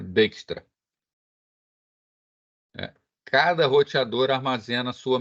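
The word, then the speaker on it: Dijkstra: se escreve dextra Tá mas ele é Holandês e essa conjunção d e j é é falado como Day n então dextra Eh cada roteador armazena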